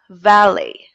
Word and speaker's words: valet: Okay, the T is silent because it came from a French word.